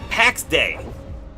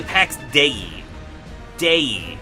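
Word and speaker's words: Pax Dei: current day ones um PX day I think it's actually PX de day I looked it up and the pronun cuz the pronunciation I wasn't sure how Dei is I think it comes from Latin I think it actually I think packs de are actually just Latin words um however that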